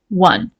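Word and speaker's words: won: notice the pronunciation right we write o we pronounce it is a one okay 24 his work was a six volume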